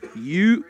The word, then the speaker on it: Yucaipa: Mike Correa is going to give us the pronunciation. I'm going to get it right. He says Yucaipa, California. He's a California native. I'm going to trust him.